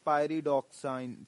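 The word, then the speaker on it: Pyridoxine: हम लोग कहते हैं पायरीडॉक्साइन, ठीक है, पायरीडोक्साइन भी कहा जाता है, पायरीडॉक्साइन भी कहा जा सकता है, प्रोनाउंसिएशन आपके ऊपर है, जैसे मर्जी पढ़ सकते हैं, ठीक है।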